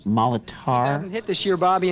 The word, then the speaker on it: Molitor: It's pronounced Molitor.